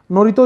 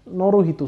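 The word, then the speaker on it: Naruhito: नाम याद रखेंगे, स्पेलिंग देख लेना, थोड़ा गड़बड़ हो सकते हैं। नोरितो इज the current emperor of Japan, नोरोहितो, sorry my apologies, it's नोरोहितो, ठीक है।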